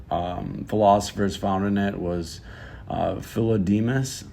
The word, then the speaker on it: Philodemus: One of the philosophers found in it was Philodemus. I believe that's how you say his name.